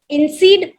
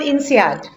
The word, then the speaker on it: INSEAD: also done her mba from inseed france i hope my pronunciation is correct over there ma'am that's fine it's called insead but that's okay okay